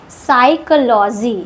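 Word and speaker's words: psychology: इसको पढ़ते हैं साइकोलॉजी। साइकोलॉजी नेक्स्ट यहां पर पी एंड टी साथ में है तो पी साइलेंट होगा।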